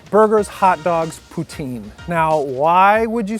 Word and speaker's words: poutine: Poutine. Well, I mean. Wait, I'm not saying it right. How poutine. Do you? Poutine. La poutine. So it's not poutine.